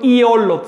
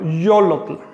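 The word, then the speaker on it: yolotl: Johnlot weet, la y se pronuncia tal como la del español. Yo le llamo semiconsonante porque tiene una función consonante. Si digo yot, yo le estoy añadiendo una o y estoy pronunciando de una manera cerrada, no estoy diciendo iolot, sino yotl.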